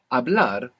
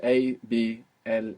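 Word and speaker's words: hablar: be collabor collabor good abl is to speak in Spanish abl it's spelled h a b l a r what's happening with that H it's silent totally silent abl how do you say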